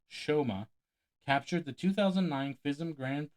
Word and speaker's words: Soma: Hungarian magician Soma, pronounced Shoma, captured the 2009 FISM Grand Prix staged championships.